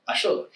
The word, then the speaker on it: axolotl: So, he bailed out, turned himself into an agave plant, and an axolotl or ah Sholookh.